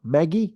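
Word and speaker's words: MGIE: released this week is what they call Maggie which is spelled mg iie which is an open-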